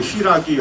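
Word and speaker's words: 新羅: 그 읽으면 시라기 하는데 신라를 한자로 써놓고 읽으면 시라기예요.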